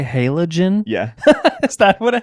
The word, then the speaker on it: halogen: what how it's pronounced it could be hologen halogen or hologen I've literally never heard it pronounced any other way except for hologen it can be both wow so there you go